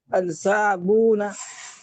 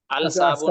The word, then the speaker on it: الصابون: الاسبع، الاسبع، الاصبع، جی الصابون، الصابون، یہ الصابون ہے، الصابون نہیں الصابون، پڑھیں گے اس کو، صاد حروف شمسی میں سے ہے نا۔ جی جی شمس ہے،